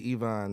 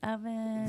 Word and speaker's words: Evon: the only I am the only Ivon that's EV v o n you got to spell it right and you got to pronounce it right you do it wrong we got a problem all right was telling